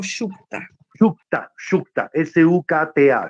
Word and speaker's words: Sukta: ¿Cómo se escribe bien? ¿Sutra o Shukta? Shukta, Shukta, S-U-K-T-A, Shukta. Purusha Shukta.